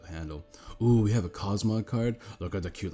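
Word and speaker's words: Cosmoem: have Cosmo cos cosium cosm Cosmo it's Cosmo that's how you say it it's got teleport so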